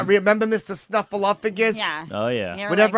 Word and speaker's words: Snuffleupagus: There's no P in there. No. Snuffleupagus. No. Snuffleupagus. Yeah. No P in it.